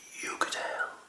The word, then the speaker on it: Uigeadail: you spell it actually with Uigeadail.